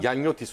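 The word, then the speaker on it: Gianniotis: Giannotis okunur o.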